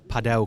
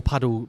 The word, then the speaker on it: padel: Um more paddle padell courts are opening. I keep saying paddle because in the UK the UK people don't pronounce it correctly.